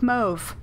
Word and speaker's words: mauve: And gray, or there are so many ways to pronounce this word. Let's go with mauve, because that's how the Met pronounces it.